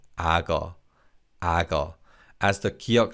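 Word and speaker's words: 악어: and this is ah because of connected speech this is pronounced as ago aga as the kyok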